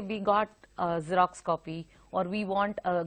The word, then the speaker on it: Xerox: Any word that begins with the X, the alphabet X, is pronounced with a Z. Okay, so it is Xerox.